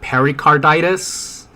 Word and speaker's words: pericarditis: and um her Cardenas it's pronounced myocarditis and pericarditis um yeah I mean